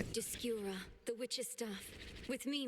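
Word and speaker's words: Descura: Discura. The witch's staff with me, my friend. Okay. Well, there's the pronunciation. Discura. I was right. Not Dura. Dura.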